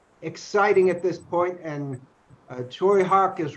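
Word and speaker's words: Tsui Hark: yeah, this is a movie that it's one of Choi Hawk, whose name is spelled Tsuihark.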